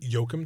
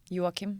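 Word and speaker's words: Joachim: And is it Yokum Trier? Yokim. Yeah.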